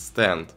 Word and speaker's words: Stand: у многих возникает вопрос как правильно произносится название злого духа и несмотря на японское произношение правильно говорить стенд ведь именно так она и читается английского однако стан звучит куда приятнее и интереснее лично для меня нумерация